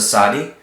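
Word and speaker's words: Tsadi: This is a Sadi, and a Sadi is always pronounced with a TZ sound, like tsit, okay?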